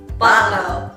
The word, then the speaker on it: bottle-o: How do you pronounce that O? I think it's just how we pronounce no, isn't it? Bottleo. Bottleo. Yeah. Bottleo. Bottleo. Bottleo. Bottleo. That sounded better. Bottleo. Yeah, Bottleo. Yeah, I don't need to change the O.